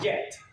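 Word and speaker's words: גט: certificate of divorce in Hebrew was called a get that's how you pronounce it the Hebrew word for it get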